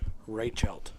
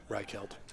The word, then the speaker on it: Reichelt: This time we've got AJ Sumner and Kurt Reichelt. Yeah, we probably should have clarified exactly how to say his last name. It's on the sheet. Reichelt.